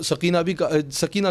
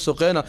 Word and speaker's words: سقینہ: حضرت سقینہ سلام علیہا، جن کو سکینہ کہا جاتا ہے، اصل تلفظ سقینہ سلام علیہا کا، ایک بات رکھنا چاہوں